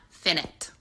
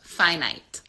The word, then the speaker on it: finite: you that the word finite is not finite. It's finite. So I know that we might think it's finite because we say infinite when we mean an amount that is never ending. But finite is how you say it, and that means that there is a fixed amount of something. So I just wanted to get on here and let you know the proper way to say it.